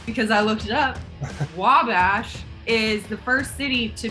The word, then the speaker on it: Wabash: you could have been because it's only two syllables i know how to say it but i don't know how to explain it's wabash so i feel like the wall is where you hit it wabash oh nailed it